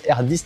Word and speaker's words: RX: Vous avez le modèle un peu au-dessus, la Cobra RX, ça s'écrit RX, mais en fait, ça se prononce R10 normalement.